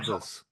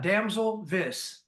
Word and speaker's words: Damselvis: Well, it's Damselvis. Damselvis. Damsel. Damselvis. Yeah, Damselvis, like Elvis.